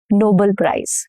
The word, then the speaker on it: Nobel: And same goes for Nobel, not Nobel Prize, Nobel Prize. This brings me to my rule number 1, which is syllable stress.